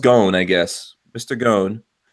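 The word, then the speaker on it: Ghosn: goon looks like ghost in but it's pronounced gone has been credited with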